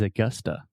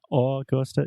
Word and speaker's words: Augusta: talking about the schwa so most brazilians will see this word and they want to say au gusta one more time augusta augusta awesome i'm gonna visit augusta this summer augusta augusta and it's not all coaster it's not augusta augusta yeah so you have two schwa the uh uh sound augusta augusta almost almost